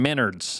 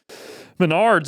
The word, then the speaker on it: Menards: I was saying Minards and people were laughing at that. I thought it was Menards. Uh, it is Menards and I don't really know even what.